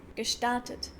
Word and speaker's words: gestartet: Some minor things that I noticed are, for example, that GE is sometimes pronounced as K, gestartet.